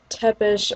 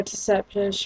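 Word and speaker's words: Tsepish: the lady's name differently, it's because it's spelled T-S-E-P-I-S-H, I think. Yeah, Seppish. So that's why some pronounce it Tepish or Tesepish or Seppish.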